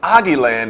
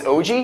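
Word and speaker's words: Oggy: Cockroaches wait a minute ail land ail land is it aie I believe it's pronunciated I don't really watch um Nickelodeon anymore really no oh it's OG OG OG o and the Cockroaches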